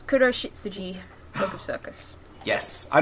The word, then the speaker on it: Kuroshitsuji: It's Kuroshitsuji, Book of Circus. Yes, I know nothing about this. It's black shit Suji. It's Black Butler. I'm waving hand cream around. I'm going to put that down. Kuroshitsuji Book of Circus, which takes place in the